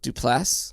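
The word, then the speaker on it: Duplass: with what's his name mark duplas dupas is how you say it um and basically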